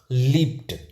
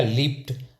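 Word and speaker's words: leaped: डी तो ये देखो पी जो प का जो साउंड है वो भी जो है वॉइसलेस है तो यहां पर हो जाएगा लीप क्या हो जाएगा लिपट तो कई ऐसे वर्ड्स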